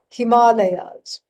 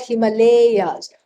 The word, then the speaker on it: Himalaya: go off to the Himalayas this is how we have to pronounce it right not Himalayas all right please don't do that and so Himalayas and